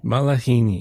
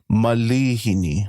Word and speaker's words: malihini: say misprononunciation but yeah a lot of people think there's a actual a after the the L but it's a I so it's going to be malihini malhini malhini